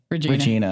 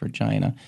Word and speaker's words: Regina: and prep, and then they were calling it Regina, and I was like, it's Regina. And so, right about the time we wrapped, we had all accepted. It's the city that rhymes with fun, is what they call it.